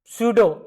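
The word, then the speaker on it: pseudo: Answer अब देखिए आगे इन सूडो पी साइलेंट रहता है इन सूडो first order reaction is इन सूडो first order reaction is क्या?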